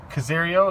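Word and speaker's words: Carrozzeria: How do you pronounce that, Craig? Carizo? Caserio is like a Pioneer brand, but in Japan.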